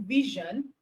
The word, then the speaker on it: vision: So the correct option is letter C, option C, because vision, okay, the S in vision is correctly pronounced as j.